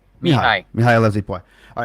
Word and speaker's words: Mihai: It's Mihai. Mihai Loves APY. All right, I know a guy named Mihai, and it's spelled that way.